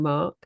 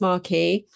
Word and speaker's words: Marque: Because some people confuse it with marquee, which has got two E's on the end. But I have had it pronounced marquee.